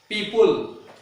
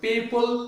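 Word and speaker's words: people: बहुत सारे अभी भी लोग बोलते हैं ना पीपुल, इट्स not good, पीपुल नहीं, पीपल।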